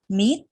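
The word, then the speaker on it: มิตร: มา คำ ที่ 2 คำ นี้ ร ที่ อยู่ หลัง ตัว สะกด ปิด ไป เลย เรา สะกด แค่ ม ม้า สระ อิ ต เต่า อ่าน ว่า Meet อ่า แปล ว่า เพื่อน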